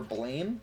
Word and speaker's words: Blame: one of his animes called Blam, or Blame. That's what it looks like there, but he pronounces it Blam.